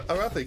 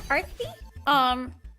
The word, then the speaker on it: Arthi: So, Arathi, can you introduce yourself? Oh, hi. I'm Arthi. Oh, did I pronounce it wrong? It's Arthi, Yeah. yes, not Arathi.